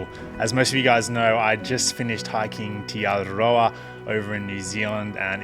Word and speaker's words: Te Araroa: So the way to say tee-are-a-rho-a is T, and you got to roll your R's. Araroa, Araroa, tee-are-a-rho-a.